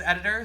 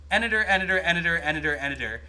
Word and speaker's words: Aniter: I mean, I guess it makes sense because it's a bell, but you say it's the same cadence as Editor, so Editor, got it. Editor. It rhymes with Senator.